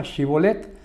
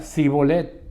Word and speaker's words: Shibolet: Y si él respondía no, entonces le decían: di pues la palabra Shibolet. Pero si él decía Sibolet, porque no podía pronunciarla correctamente, entonces le echaban mano y lo mataban junto a los vados del Jordán.